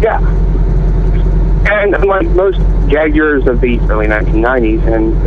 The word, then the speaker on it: Jaguar: Well, I call it Jaguar, but what is it? Americans call it Jaguar, like U-I-R-E, like you hear in Squire, but the correct pronunciation, the British pronunciation is Jaguar.